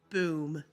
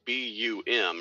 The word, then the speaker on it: BOOM: So the initials would be BUM, right? Yes, that's correct. So that would technically be pronounced as bum, right? Technically, yes, but we like the sound of boom, so we're going to call it BOOM.